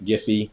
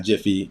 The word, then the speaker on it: Giphy: jiffy depending on which i'm i'm hard g giffy so i know april was watching it's not jiffy it's giphy uh it's not peanut